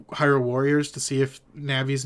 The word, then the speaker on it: Navi: I know that it's pronounced Navi, right?